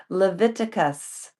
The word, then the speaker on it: Leviticus: I was reading February 17th, and it's pronounced Leviticus.